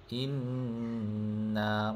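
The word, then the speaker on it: إنّ: Hamzah kasra nun sukun nun fathah. Ha ibaratkan ada dua nun. Inna macam ni ejaan dia.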